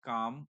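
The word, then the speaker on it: calm: अगर हम इसको हिंदी में लिखते हैं काम एल साइलेंट होता है।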